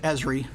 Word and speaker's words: Esri: And we actually pronounce it ESRI, is how we say it.